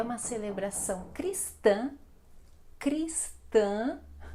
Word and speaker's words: Cristã: Bem, então a Páscoa é uma celebração Cristã, Cristã, nasal também este A final, comemorada anualmente no domingo de Páscoa. A Páscoa é considerada uma das festas mais importantes para os cristãos, cristãos, exatamente, não são "cristianos" "pero" é cristãos, cristãos, ok?